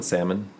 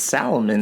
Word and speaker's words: salmon: Do you pronounce the L in salmon? Of course, it's salmon. It's salmon.